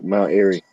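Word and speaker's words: Mount Airy: It's like air, you know, like air for Mount Erie.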